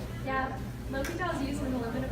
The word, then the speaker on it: L'Hôpital: It's called the hospital. Actually, it's pronounced L'Hôpital. It's not the hospital.